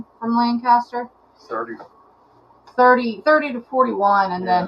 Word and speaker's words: Lancaster: Chad's correcting you because you said Lancaster. It's Lancaster.